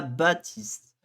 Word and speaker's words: Baptiste: Donc là, on a Baptiste. Le P, on le prononce pas en français, donc techniquement, on met pas de P.